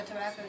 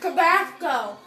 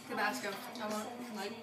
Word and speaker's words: Tabasco: My tongue is like, it's hot, but it's not as hot as I expected with the tobacco. These are good. How do you say that? Tabasco. Tabasco.